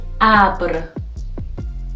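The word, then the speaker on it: ابر: For example, the word Abr means cloud. You can see the initial sound is A and then we put the Fateh above the letter Aleph.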